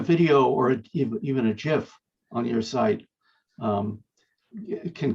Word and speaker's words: GIF: And one of the um he invented it a long time ago and uh it is pronounced GIF.